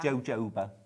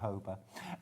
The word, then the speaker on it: jojoba: ones those are them love jojoba cuz it's hello isn't it yeah I think so jalapenos yeah yeah yeah yeah yeah yeah you have a friend who uses jojoba shampoo jooba jojoba not hoba Angela's got in touch